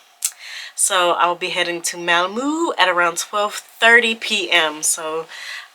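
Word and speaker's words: Malmö: bar I was at that it's pronounced malamu so I'll be heading to Malmo at around 12:30 p.m.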